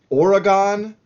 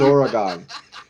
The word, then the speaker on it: Oregon: the state of Oregon we don't say Oregon uh unless we are being ironic and making fun of you the person who says Oregon okay so yeah uh and I get it if you're not from there and you're just in you know you're just in school you're learning the state capitals whatever yeah you're probably going to say Oregon but it that's not how we say it it's Oregon so so that was your